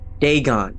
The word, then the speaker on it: Dagon: ancient Philistine legend of deeon the fish God Deon that's how you say it okay oh boy